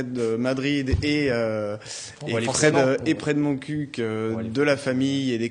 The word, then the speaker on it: Montcuq: Alors la véritable prononciation, c'est Montcuq. Vous aviez raison, Anthony. Donc voilà, par la Montcuq, on s'est dit que